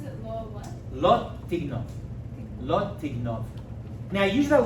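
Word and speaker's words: לא תגנוב: Wait, how do you pronounce it? Law what? Lot tignov.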